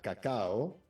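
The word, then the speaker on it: Kakao: el fundador de cacao con las dos cacao se pronuncia como el cacao que conocemos pero las dos son con k cacao que es eh la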